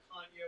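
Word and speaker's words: Canha: to explain to us the portuguese heritage and it's really kanye but since we've beaten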